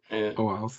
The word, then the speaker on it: OAuth: Authentication takes place based on OAuth. How do you pronounce that? OAuth? OAuth.